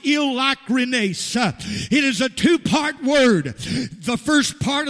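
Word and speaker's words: εἰλικρίνεια: for the word sincere it appears to say heal the crimes but it is not pronounced that way it is pronounced ill Loughran ASA it is a two-part word the first part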